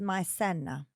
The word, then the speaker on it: maicena: He's from Puerto Rico, Caribbean island, and they make a hot cereal out of cornstarch, which is called maicena, pronounced maicena.